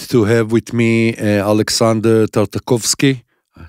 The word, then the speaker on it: Tartakovsky: I'm glad to have with me Alexander Tartakovsky.